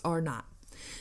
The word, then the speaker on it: R0: The measure scientists use to determine how easily a virus spread is known as basic reproduction number, or RO, or pronounced R not.